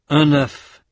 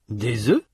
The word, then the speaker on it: œufs: Un œuf, des œufs, un œil, des yeux. Notez que dans ces mots, la consonne finale ou semi-voyelle final dans le cas de œil prononcé au singulier n'est pas prononcé au pluriel.